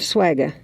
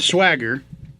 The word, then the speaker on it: Swagga: Ramey would ride a horse called Backyard Swagga. That just kind of cracks me up. Not swagger. Swagga.